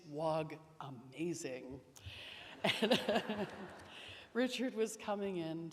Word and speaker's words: Wagamese: And he corrected me, saying, it's not Wagamese, it's Wag-amazing.